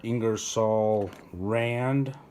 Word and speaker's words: Ingersoll Rand: why I went with both of these are ingersoll-rand that's how you say it I got the